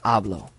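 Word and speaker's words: hablo: so if you see ablo you go back to your rule it ends in an O which means our tonic syllable is the second to the last so it would be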